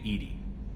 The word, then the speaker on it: EDI: why are you named edie edie is the phonetic pronunciation of edi that is an acronym for enhanced defense intelligence